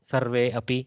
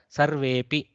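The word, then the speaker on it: सर्वेऽपि: happen, you are pronouncing sarve api, like that. But here if you read it together, sarvepi, there is no akara explicitly in my mouth, sarvepi, like that.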